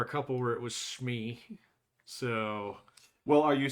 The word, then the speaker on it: SME: expert in that because And nobody pronounces it Smee. It's Oh, Schmee. Schmee, yeah. I can't remember. There was one or two places where I worked where they actually did SME, and then there were